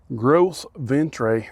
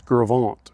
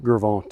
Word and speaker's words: Gros Ventre: at here and where we're at now is gros ventre no i'm just kidding i was trying to say that all redneck it's gravant it's french i believe gravant is the proper pronunciation but it's the gravant